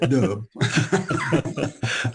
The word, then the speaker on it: Dub: Okay, so it's not double as in there's two of you. No, it's just Dub.